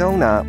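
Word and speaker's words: sauna: 正确发音是 Sona，有促进循环和美容的功效。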